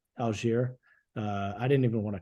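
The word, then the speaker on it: Allgeier: Tyler, how do you pronounce his last name? Algier. Algier.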